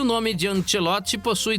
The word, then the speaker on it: Ancelotti: E a estreia de Carlo Ancelotti pela seleção brasileira não agradou aos torcedores que acompanhavam o jogo na Globo, viu?